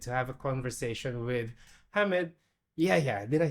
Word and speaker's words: Hamad Yehia: Hamad Yehia. Did I say it right? That's perfect.